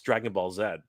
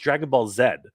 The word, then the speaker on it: Dragon Ball Z: but look it up if you look up in Japanese how they pronounce it it's pronounced Dragon Ball Zed uh just like it